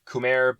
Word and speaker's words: Khmer: Khmer looks like it should be pronounced Khmer, but no, it's Khmer.